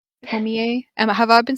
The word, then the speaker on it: Tomie: The Tomi? Yeah. Yeah, Tomi is more of I'm just pretty sure it's one pronounced Tomie. Tomie.